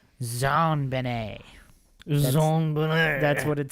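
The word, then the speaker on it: JonBenét: John Bennett Ramsay and her name is pronounced in a French style Zan Benet that's what it says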